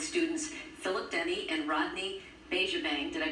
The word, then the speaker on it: Bejabang: He's the director of Buddies Helpers, along with students Philip Denny and Rodney Bejabang. Did I pronounce that right, Rodney?